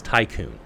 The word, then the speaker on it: Tiqqun: I want to keep mispronouncing it, but it's Tiqqun. Almost like Tycoon.